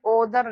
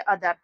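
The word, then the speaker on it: other: तो यहां पर देखिए ओदर नहीं पढ़ते। यहां पर क्या पढ़ते हैं? अदर।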